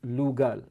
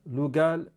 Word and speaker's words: lugal: the sumerian inscriptions was lugal lugal consists of two syllables liu man and gal king so this is what